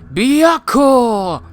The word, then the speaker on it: Byakko: White Tiger, pronounced Byakko.